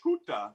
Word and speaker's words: Skuta: It's actually, you're pretty close to how they say it in Polish, Skuta, but it's Skuta.